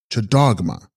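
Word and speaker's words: lCags sgrog ma: Text Gags Grogma, pronounced Chadogma, Sanskrit Vajra Shrinkala, she holding the chain, the Shakti of Hayagriva.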